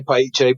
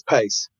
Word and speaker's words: Paice: Italians can say Piche, but it's Pace.